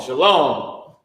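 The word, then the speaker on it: שלום: my at the end my in the ah sound at the end is not strong shalom shalom shalom same thing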